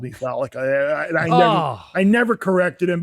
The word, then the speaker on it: Fallica: I'm almost positive that's pronounced correctly. Not Fallica, not Fallica. Fallica, yes? You have it.